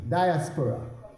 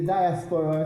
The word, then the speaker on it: diaspora: The second D, diaspora. And we say diaspora, or some say diaspora. I'm not sure. For the WAMU, how you say it? Diaspora. That's the Jamaican pronunciation, right?